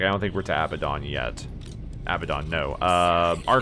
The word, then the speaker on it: Abaddon: to be pronounced uh it's abaddon it is abaddon but there's another way that people say it target acquired i know